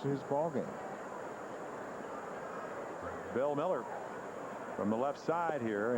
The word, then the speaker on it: Mueller: It's spelled like it would be Bill Mueller, M-U-E-L-L-E-R. In fact, Jeremy Giambi said, you mean Bill Mueller? And I said, no, I think they pronounce it Miller.